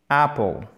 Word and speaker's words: apple: Ah, bref, mais l'accent tonique se trouve ici. Apple, apple, ok? Apple, et ne faites pas apple, il n'y a pas de H aspiré, d'accord?